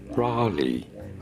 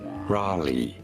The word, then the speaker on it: Raleigh: of this but I'm heading towards relay North Carolina how do you say it Raleigh Raleigh if you look at